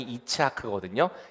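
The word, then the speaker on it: יצחק: 또이 웃었다 이츠하크라고 하는 동사에서 우리가 알고 있는 이삭 이삭의 그 발음이 이치하크거든요.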